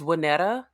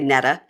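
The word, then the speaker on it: Waynette: I mean I'm a my middle name is wetta but it ends with an e spell that w a y n t t w a y NE tte wetta okay well NE tte I would say Netta yeah so my dad's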